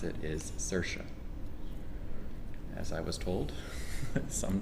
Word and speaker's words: Saoirse: and her name looks very odd but you pronounce it Saoirse and it's like si o ir SP and yet the the correctly pronounce it is Saoirse as I was told some time ago by